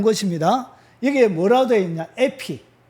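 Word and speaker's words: ἐπί: 에피. 영어로 에피라고 읽어요.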